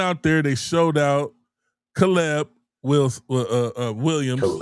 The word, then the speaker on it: Caleb: Caleb will uh Williams. Caleb. Caleb. Not KB.